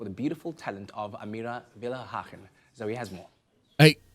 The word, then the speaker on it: Willighagen: Embrace yourself for the beautiful talent of Amira Villa Haken. So he has more. Hey. Hey, that brother pronounced it right. Villa Haken, right? He did a great job. He he nailed it.